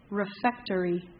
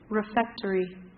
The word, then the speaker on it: refectory: round nine number two jack your word is refectory refectory refactory can i have the word of origin please